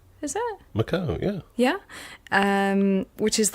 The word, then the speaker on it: Macau: I always pronounce this one wrong. Macau? Is that? Macau, yeah.